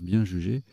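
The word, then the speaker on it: bien-jugé: c'est que bien juger je l'ai prononcer correctement ça se prononce bien juger mais ce n'est pas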